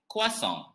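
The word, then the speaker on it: croissant: that we are going to learn today is kwasong kwason kwason is a dish that originates from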